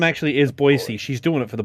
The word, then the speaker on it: Boise: which one's better, or how to pronounce Boise, which is Boise, not boys.